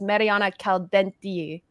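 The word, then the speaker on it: Mariona Caldentey: She told us we've all been saying her name wrong. It's Mariana Calaldi.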